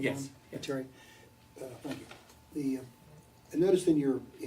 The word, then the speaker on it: Viteri: Viteri, is that how you pronounce it? Viteri, did I have it wrong? Yes. Viteri.